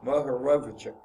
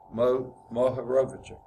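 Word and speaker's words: Mohorovičić: I say Mohorovicic. I think that's how, it's close to how you say it. I know usually when you see the CIC at the end, that's given a seal. It was a CH sound.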